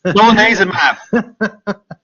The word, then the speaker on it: solanezumab: What did you learn from the failure of solanezumab? Sorry, I'm no good with drug names. Solanezumab. There you go. Solanezumab. Yeah, solanezumab was, for those of you that aren't aware